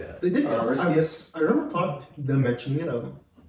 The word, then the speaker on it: Aristeas: Aristeas.